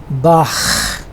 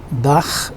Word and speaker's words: Bach: For example, in German language we have this word, it is pronounced as Bach and it means brook.